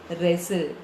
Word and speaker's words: wrestle: Wrestle. W is silent.